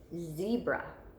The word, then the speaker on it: zebra: word is zebra zebra so just like I told you before put your hand on your YouTube Z brah Z brah okay we hear that long e before our chin hits our hand so that means our action at E is in our first syllable okay zebra I'm going